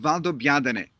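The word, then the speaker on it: Valdobbiadene: proseccos in the world is a town called valdobiadane very easy to say when you hear it but very difficult to pronounce when you read it this is a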